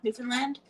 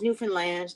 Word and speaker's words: Newfoundland: not entirely sure how we got our name, Newfoundland. Uh which is Newfoundland, not New Found Land, not New I I